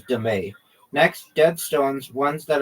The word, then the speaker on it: dame: Also known as dame, pronounced dame. Okay. Also known as demay.